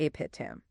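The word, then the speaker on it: Abhidhamma: Run it together. Do not say A. It's ah thank you John for that extremely precise correction.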